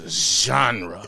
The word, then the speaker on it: ZHänrę: It's Zhanrę. It's a zhuzh on it because he put a whole J right there, Zhanrę. I'm like, who is that? That's not me. You got to say it right. It's zh.